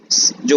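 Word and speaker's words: je: French में क्या कहा जाता है, ये इस चीज में इस सेक्शन में पढ़ने वाले हैं। आई को कहा जाता है ज, प्रोनाउंसिएशन होता है इसका आधा ज और श, ज, ये होता है त्यू, टी यू, त्यू।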